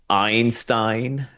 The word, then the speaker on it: Einstein: It's Einstein, but it's like pronounced like Ayn Rand.